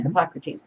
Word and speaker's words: Hippocrates: Yeah, Hippocrates.